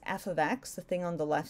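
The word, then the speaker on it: f(x): so when you see this in English it's pronounced F ofx the thing on the left side whatever is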